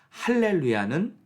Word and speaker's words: 할렐루야: 맞는지 무엇이 옳은가가 아니고 할렐루야는 히브리식 발음이고요 그리고 알렐루야는 헬라식 발음입니다 헬라어에는이 강한 히읗 발음이